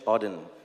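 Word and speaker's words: Auden: So So it's a part of a poem from WH Odin. That's how you pronounce it.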